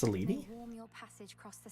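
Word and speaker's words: Selene: It's pronounced Seleni.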